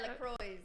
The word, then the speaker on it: LaCroix: Yeah, LaCroix.